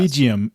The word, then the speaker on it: Regium: Regium, like regal. It means like royalty.